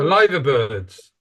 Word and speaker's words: Liver Bird: remember the liver bird lither Birds Li Birds now now I pronounce it correctly the lither birds and it's called that